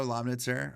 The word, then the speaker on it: Lomnitzer: The Father Lomnitzer. It's uh not as hard to say as many people think it is. It's three syllables. You say all the letters pronounced. It's German.